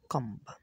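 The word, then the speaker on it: comb: এম ও বি থাকলে বি উচ্চারণ হয় না। তারপর হচ্ছে কম্ব যেমন চিরুনি।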